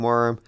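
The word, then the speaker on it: wyrm: pronouncing worm correctly w-y-r-m i saw some people in line saying it was virum others saying worm i'm gonna go with worm because that's just easier pronounced anyway the sea horse is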